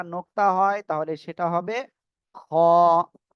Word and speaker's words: خ: হয় তাহলে সেটা হবে খ এই যে গলার শেষ ভাগ থেকে এই অক্ষটা উচ্চারণ হবে খ সবাই একসাথে জোরে জোরে